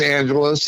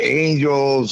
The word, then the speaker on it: Angeles: is dale lydol and a lot of people um mispronounce it so i want to make sure you know that uh we got that um down um you know some people say angels or anthony's and you know it's